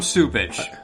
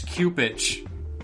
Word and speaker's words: Cupich: know chicago i guess why do they call him supage that's not i can't say that well that's what is that's how you're supposed to pronounce that name i don't know it's not a it's cupid it's what oh it's cupich i know but everybody